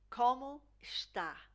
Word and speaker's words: Como está: So you see this E, here, sounds more like an I. Como está?